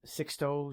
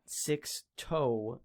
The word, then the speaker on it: Sixto: go with the marlins sixto sanchez not six toe sanchez sixto sanchez uh he's a